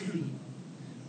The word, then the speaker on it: Fi: Fa went up a half step and went pronounced as Fi.